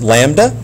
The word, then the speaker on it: lambda: So it's pronounced lambda times the frequency, which we've spoken about before.